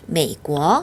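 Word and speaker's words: 美国: 한어병은 보고 메이고 메고어 삼성 뒤에 2성이 오니까 앞에 삼성은 몇 성으로 그렇죠? 반삼성으로 바뀌죠. 반삼성 메이 내려갔다. 바로 꼬어 이성으로 올리시면 됩니다. 메이 꼬어 하면요 미국이 되겠죠.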